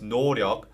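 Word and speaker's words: 노력: a lack of effort the word door yoke is pronounced noryeok by BTS and this is a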